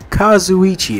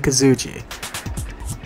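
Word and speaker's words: Kazuichi: qi Chiaki and Yoko Kazu Ichi is how you pronounce her name I keep going Kazuki I'm still gonna call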